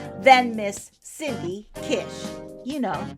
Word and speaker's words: Kish: And uh Cindy Kish, which rhymes with wish, is my guest today.